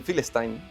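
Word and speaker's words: Filastin: A ver, eh por ejemplo, la P para pronunciar Palestina no se puede pronunciar dentro del del árabe. Entonces, normalmente se le dice Philestin, pero pero no, o sea, tú no puedes nombrarlo porque no existe.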